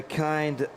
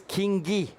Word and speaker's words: Kingi: So, it is Kingi. Thank you very much. Uh nickname Maka on uh on YouTube. Uh I will not say Ki anymore.